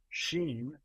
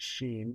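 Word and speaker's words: Shein: Um, Sheen, by the way, I I pronounce it Sheen because I envision Steam would shop at at Sheen, you know.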